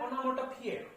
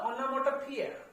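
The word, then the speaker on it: onomatopoeia: Difficult spelling है, इसका pronunciation भी डिफिकल्ट है। इसको बोलते हैं ओनोमोटोपिया। क्या बोलते हैं इसको? ओनोमोटोपिया।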